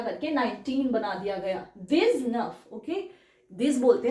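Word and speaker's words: vingt: की ठीक है तो ये हो जाता है वा वी आई एन जी टी वा इट्स 20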